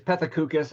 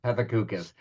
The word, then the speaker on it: Pethokoukis: It's Pethokoukis, and that pronunciation was in the correct area code or zip code, so that's totally fine. Pethokoukis.